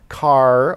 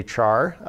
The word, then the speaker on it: char: unfortunate another unfortunate abbreviation char is of course spelled as though it were pronounced char but character does not begin with the syllable char so some people actually pronounce this car or care most people just say